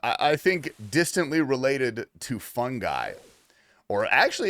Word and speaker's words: fungi: Yeah, it's uh I I think distantly related to fungi or actually it's technically this pissed me off. That's actually pronounced fun. Like if you listen to a a scientist say it, they say fungi.